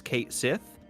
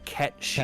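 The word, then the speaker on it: Cait Sith: The only Kate, C-A-I-T, with which I am familiar is Kate Sith, and as annoying, pretentious Final Fantasy fanboys, not me, will tell you, that's actually pronounced Ket-Shi.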